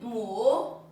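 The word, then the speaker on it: 母: Then mu Mm-hmm. and means mother. Mother. Yeah. Mu, u, mu. That's the third tone.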